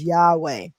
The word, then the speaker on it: Yahweh: covered from last chapter and that y-h-w-h is pronounced as yahweh okay also noteworthy manly p hall the most